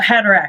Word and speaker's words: Haderach: How do you pronounce it? The quasit. Oh, oh god, the Kwisatz I need Haderach. Haderach, yeah.